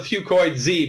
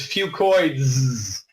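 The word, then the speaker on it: Fucoidz: I call it Fucoid Z because that's easier to pronounce. But really, the correct way to say it is Fucoids.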